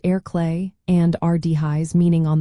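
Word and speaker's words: ar chlé: You can combine these with simple directional terms like ar clay, meaning on the left, pronounced air clay, and ar dihis, meaning on the right, pronounced air yes.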